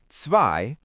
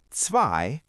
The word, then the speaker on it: zwei: When you see the letters E-I together, they make the sound I. So, E-I is pronounced like the long I sound. Zwei, which means two, has E-I.